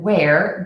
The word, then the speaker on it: wear: And just a tip, where, W-H-E-R-E, as in where is it, and wear, W-E-A-R, as in I wear clothes, are pronounced exactly the same.